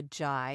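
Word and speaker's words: Zhai: Yeah, this is actually something that one of my interviewees, one of my guests, her name is Cynthia Jai. It's spelled Z-H-A-I.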